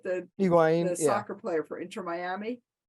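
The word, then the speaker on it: Higuaín: to Wayne am I saying it right the Higuain the soccer player for intermiami yep iguaine Higuain sorry yeah another story that you uh dove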